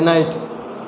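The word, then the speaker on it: knight: क्या हुआ बहादुर योद्धा इसमें क्या है के लेटर साइलेंट है नाइट उसके बाद नॉलेज इसको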